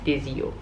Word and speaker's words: Desio: sito che si chiama Desio. Questo qua, o Desio forse, forse Desio perché c'è l'accento sulla I, Desio diciamo.